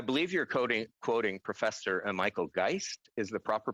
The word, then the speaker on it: Geist: Well, I believe you're quoting Professor Michael Geist is the proper pronunciation, and I will defer to my colleague, Minister Guilbeault, to answer that question.